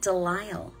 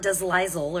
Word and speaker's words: Delisle: Yeah, Delisle. Not Deslizel or whatever. Delisle.